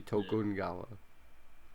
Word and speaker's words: Tokugawa: for it to sing tokugawa sorry for if i mispronounce those no it's it's the the only pronunciation that he didn't do really well was the tokugawa it would be tokungawa oh sure anyways that's